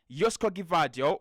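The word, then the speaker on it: Joško Gvardiol: at at left back yosco gadio or yosco depends on how you you want to pronounce it at left back as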